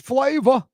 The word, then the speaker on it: flavor: That flavor doesn't end ER, it ends AH. Flavor. Because that's how us Yats say it.